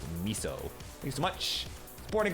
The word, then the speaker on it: miso: I think it's pronounced miso.